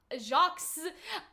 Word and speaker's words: Jacques: like what if she's jocks Allah shocked uh Jacques illegitimate daughter people were getting on us cuz they're like you don't pronounce jocks with the S in French and I was just